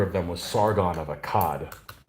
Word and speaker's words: Akkad: them was sargon of akkad it's not a cade so technically i guess